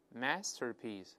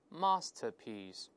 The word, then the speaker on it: masterpiece: 面加卷舌，读成 master, masterpiece 都可以。那我们分别再来一遍。Masterpiece，好，再读美音，Masterpiece，都会听到。